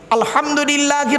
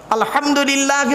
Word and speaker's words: আলহামদুলিল্লাহ: গিয়ে আমরা কি বলি আলহামদুলিল্লাহি রাব্বিল আলামিন আলহামদু হাটি হাবজ নয় আলহামদুলিল্লাহি রাব্বিল আলামিন আলহামদুলিল্লাহ গলার ভেতর থেকে হটা উচ্চারণ করবেন দয়া করে আলহামদুলিল্লাহ এর মানে হচ্ছে